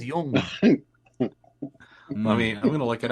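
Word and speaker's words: jong: It's pronounced Jung.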